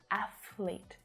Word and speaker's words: athlete: closer together athlete athlete athlete athlete so keep your tongue touching your teeth at all times all right first touching